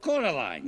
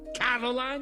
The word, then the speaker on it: Coraline: They call you Coraline instead of Caroline. Not Caroline at all.